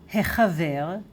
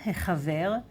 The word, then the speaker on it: החבר: Yeah, a bit difficult, the Chet, right? It's like right in the throat.